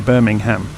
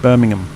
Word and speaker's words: Birmingham: Like an American would be far more likely to say Birmingham, where we almost completely remove the end of it and it's just Birmingham.